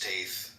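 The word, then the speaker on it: Teth: Come on and te pronounced taith transcribed as t the number nine meaning serpent the intelligence of the secret of all spiritual activities.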